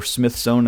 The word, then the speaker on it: Smyth: This is a Smyth-sewn Bible, or Smith-sewn as it is variously pronounced.